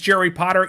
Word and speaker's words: Jerry Potter: My name is Jerry Potter. Yes, it rhymes with the boy wizard, host of the Social